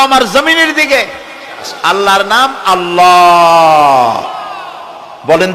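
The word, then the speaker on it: الله: জমিনের দিকে আল্লাহর নাম আল্লাহ বলেন তো আল্লাহ আল্লাহ নয় কিন্তু আল্লাহ হচ্ছে অশুদ্ধ শুদ্ধ হচ্ছে আল্লাহ বলার সময় মুখটা গোল হয়ে যাবে বলেন তো সবাই উচ্চারণ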